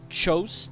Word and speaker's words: Tchos: for this mod, the Tchos, T-C-H-O-S mod that I got. I think I pronounced that correctly. I think it's like Tchaikovsky. That's got a T in front of the CH as well.